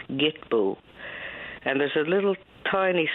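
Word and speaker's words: Kitpu: it's called the sacred it looks like Kitpoo but there's a little dictionary in the back which gives the pronunciation as Gitbu and there's a little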